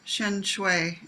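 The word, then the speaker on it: Shenxiu: is my own delusion, but the pairing of Shencho, is that how you say his name?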